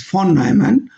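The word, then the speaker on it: von Neumann: Now, this is called for Von-Neumann stability analysis, correct pronunciation is Fon-Nnoyman, Von-Neumann stability analysis.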